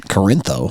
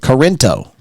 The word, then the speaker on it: Corinto: Corintho. How do you say it? Corinto. I was off by one You letter. added an H. You threw an H in there.